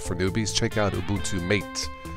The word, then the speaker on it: MATE: So if you are new to Linux and wanted to try something new, or for yourself for newbies, check out Ubuntu Mate. It's pronounced Mate.